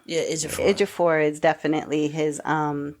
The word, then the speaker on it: Ejiofor: So you just have to look at it like chew instead of chi with the I.